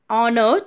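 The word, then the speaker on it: honour: The first letter, H in the word, is silent.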